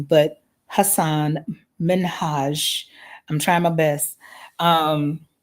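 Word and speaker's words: Hasan Minhaj: And I remember, oh my gosh, I'm going to mispronounce his name, but Hassan Minhaj. I'm trying my best. Um, of course, I prefer to say Hassan Minaj.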